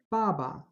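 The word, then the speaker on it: 爸爸: not ba and it's not Fu but it's Baba father baba baba now we have some more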